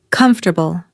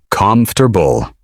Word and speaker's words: comfortable: Many learners say com-for-ta-ble. But in everyday American English, you'll usually hear comf-ter-ble. Three smooth sounds. Not four.